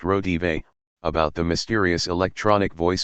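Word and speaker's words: Raudive: It Belongs to the Cucumbers was inspired when William Reed Breakthrough, a 1971 book by Drive Constantin Rodive, pronounced Rodive, about the mysterious electronic voice phenomenon, EVP, Voices of the Departed, picked up from the beyond, on microphones recording silence.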